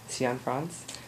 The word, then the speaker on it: Cianfrance: I read that the director, Derek Cianfrance, did I say it right?